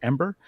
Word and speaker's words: em8er: It's pronounced Ember, and sign up is